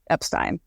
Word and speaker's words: Epstein: passed on now but so Henry Epstein nephew of Brian says Brian pronounced it Epstein I don't know what